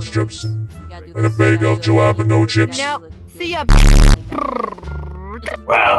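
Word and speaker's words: jalapeño: The jalapeno is the jalapeno, it's pronounced with a ha.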